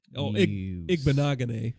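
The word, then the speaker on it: Igbinoghene: Like that Auburn corner, that Noah, I'm blanking on, Igbenogany. That's how you pronounce it. That's a tough name. Yeah, that Auburn corner, Noah Igbenogany.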